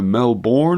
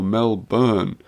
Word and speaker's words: Melbourne: response to your question the pronunciation of Melbourne Florida is either Melbourne or melburn even though I'd say locals gravitate towards the ladder melburn did you see I